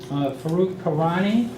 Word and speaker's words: Farokh Karani: is Farokh Karani, and he is a North American Sales Director for Heimdal Security.